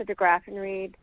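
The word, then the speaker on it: DeGraffenreid: opposition good morning um my name is degraffenreed that's spelled d-e-g-r-a-f-f-e-n-r-e-i-d I'm the vice chair of the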